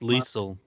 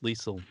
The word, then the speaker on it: Liesel: her on the show she said it rhymes with diesel i so i thought